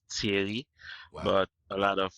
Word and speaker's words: Thierry: Haiti and this is a French name so it's pronounced TI but a lot of